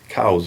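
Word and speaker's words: Coues: 1862 where he says my name is pronounced cows c-o-w-z cal and if you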